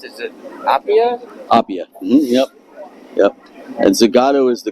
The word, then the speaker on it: Appia: And how do you pronounce it? Is it Appia? Appia.